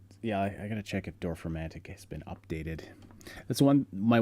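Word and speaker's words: Dorfromantik: on it, the Dolphin crap, how do you pronounce that, the super relaxing tile building game. Oh yeah, It's Dorfromantic, yeah.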